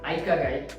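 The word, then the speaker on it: ikigai: तो हमारी first book है, जापानीज बुक है आइका गाई, जिसको ऑफिशियली प्रोनाउंस करते हैं। मैं इसको इकिगाई करके प्रोनाउंस करता हूँ।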